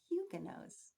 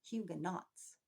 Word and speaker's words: Huguenots: They were Protestants and they were Huguenots. Now, you might have heard that word before. It looks like it would be pronounced Huguenots, but it's not. Huguenots.